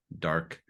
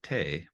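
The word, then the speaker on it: 德: Excel but do not rule this is called Dark duh I know it looks like t or tay but it's pronounced da and this is the same da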